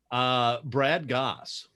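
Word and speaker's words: Brad Gosse: How do you pronounce the author's name? Brad Goss.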